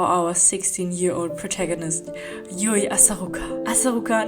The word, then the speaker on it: Asaruka: Asaruka, not Asakura.